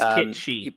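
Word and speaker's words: Cait Sith: It is Kate Shi.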